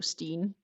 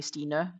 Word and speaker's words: Stine: And henceforth, that's why I describe it to English speakers as it's like Christine, just no Cree, so Steen. And in real Danish, I would say Stine because the E is more like pronounced.